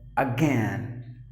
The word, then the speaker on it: again: All right, so next word is, the letter I is actually silent. So you have to pronounce the word as again. Again, not again. Usually people say so, but it should be pronounced as again. Again. The I is silent, meaning repeatedly.